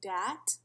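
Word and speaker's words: dhat: my cultural syndromes presentation my first syndrome is pronounced dat and it is the excessive worry or concern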